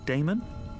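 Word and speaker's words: Daemon: How do you pronounce that? Damon? If you prefer.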